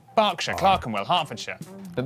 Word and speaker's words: Berkshire: silent norwich beric southwark er is pronounced r berkshire clark and will hertfordshire